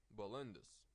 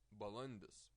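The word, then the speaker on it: balandis: English bilenda's bilenda's again a little note about stress you stress this diphthong and I'm sure not different but I don't know what's the name of this and a consonant and the stress is on the consonant bilenda's balanus put the stress on this consonant hmm okay Guruji I'm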